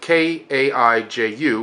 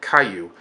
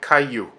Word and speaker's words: kaiju: known as they're referred to as Caillou spelled ka i Ju which sounds like a Jew or kaiju but it's actually pronounced with a neat sound J's are pronounced